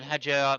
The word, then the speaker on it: Hadjar: He needs to extend on the session, and then Hadjar making up places all the way. That's the correct pronunciation.